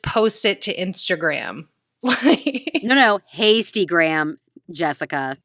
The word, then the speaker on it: Hastygram: No, Hastygram, Jessica. Tastygram? It's Hastygram. You never noticed Hasty instead of Insta. Spell it? Hasty, like H-A.